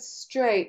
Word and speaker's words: straight: what is this word straight As in I've got straight hair what word does it sound like well it sounds like today and make and it actually rhymes with late and gate so you can see